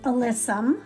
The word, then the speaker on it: alyssum: And this is alyssum. I finally got the name pronounced right.